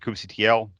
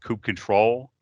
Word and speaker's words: kubectl: It's actually pronounced kube control, but kubectl is so much cooler, and they made unicorn stickers, so you can't really fight that.